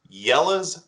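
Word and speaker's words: Jelle's: I'm going to endorse a YouTube channel called Yella's Marble Runs. That's spelled Jelles, Marble Runs.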